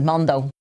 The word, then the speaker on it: Mondo: Mondo but there's so is that the way you pronounce it Mondo that's the way it is pronounced sometimes yeah Mondo um